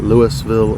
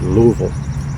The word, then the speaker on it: Louisville: And that's how you say it as far as I understand. Louisville. It's not Louisville or Louisville. It's Louisville, as the locals call it.